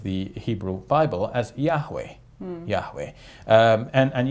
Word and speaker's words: Yahweh: the rest of the Hebrew Bible as Yahweh Yahweh um and and Yahweh is the um best estimate of how the